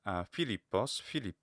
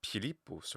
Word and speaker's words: Philippos: We have 3 syllables, right? And the second syllable is a long syllable, lambda iota pi. So lip, and then followed by pos, lippos. Now, of course, in Latin, it's Philippus or Philippus. The stress in Latin will, of course, follow the penultimate stress rule.